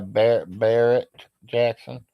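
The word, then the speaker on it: Barrett-Jackson: Yeah, Barrett Jackson.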